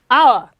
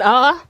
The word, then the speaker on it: hour: such as honor, honest, hour, take the article an. That's why you have some examples like an hour, because H is not sounded, because the H is silent.